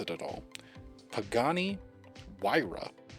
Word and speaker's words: Pagani Huayra: heard of it I didn't remember how to pronounce it at all Pagani Huayra not how I would think to pronounce it